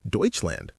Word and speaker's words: Deutschland: They literally call their country Deutseland.